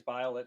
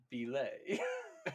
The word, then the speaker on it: Bile: Fabius Bile, that's not how it's pronounced. How is it pronounced? It's Fabius Belay.